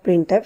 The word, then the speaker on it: printf: Language, तो वो आपका printf फंक्शन है। इट इज़ प्रोनाउंस्ड, प्रोनाउंस्ड कहते हैं तलफ़ुज़ करना यानी बोलना, ठीक है। तो इसको प्रोनाउंस कैसे किया जाता है? प्रिंट और एफ को हम अलग प्रोनाउंस करेंगे, लेकिन ऑलवेज रिमेंबर हमने